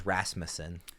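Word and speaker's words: Rasmussen: Um, so for the record, baseball reference has is Rasmusen. So, not even what what I was saying. Um, I was emphasizing the wrong syllable.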